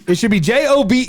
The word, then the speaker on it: Job: Is his name spelled like Job. Job. That's a like where's the E? It should be J O B E.